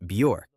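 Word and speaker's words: Björk: In addition, the correct way to pronounce it according to her in an interview is Bure.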